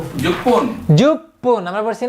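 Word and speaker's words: 十分: আমরা জানি জুর সাথে হয় পুন, ওই যে মিনিট যখন আমরা শিখছিলাম ইপুন রপুন হাপুন জুপুন, ইপুন মানে 1 মিনিট, রপুন 6 মিনিট, হাপুন 8 মিনিট, জুপুন 10 মিনিট।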